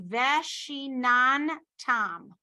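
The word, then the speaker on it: וְשִׁנַּנְתָּם: The second nun is a shava. So it's pronounced veshinan tam.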